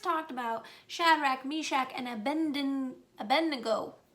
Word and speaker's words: Abednego: about shadrach meshach and abednego i always say a bendigo i always put the n before the d but apparently that's not how that's spelled so it's a bed nego so those are um